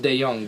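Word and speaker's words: DeJong: Oh Paul Dejan mustard it's actually pronounced dae-jung but I - on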